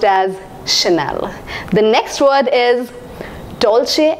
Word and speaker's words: Chanel: is I thought it should be spoken or pronounced as channel but I was wrong this is a gorgeous brand pronounced as Chanel Chanel has inspired millions of people engaged with